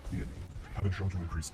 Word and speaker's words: theanine: Studies have proven that ingredients in Mountain Dew may have game fuel, caffeine in combination with theanine, pronounced theanine, have been shown to increase accuracy and alertness.